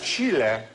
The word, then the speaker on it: Chile: Yeah, and also it's Chile. Chile. Which doesn't rhyme with silly. Well, unless you say Chile.